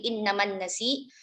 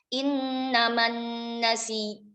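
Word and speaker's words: إنما النسيء: Innaman nasi uziyadah, misalkan ya diwakafkan di innaman nasi, maka membacanya innaman nasi, bukan nasi aja ya. Kalau nasi itu berarti hanya ibdal, tapi kalau ibdal summal idgham maka ada hentakan tasydidnya, innaman nasi, seperti itu.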